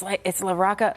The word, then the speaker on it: LaRocca: Before you were like, it's LaRocca, like The Rock.